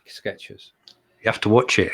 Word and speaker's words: Skechers: It is, because we all pronounce it Skechers as though there is a T there.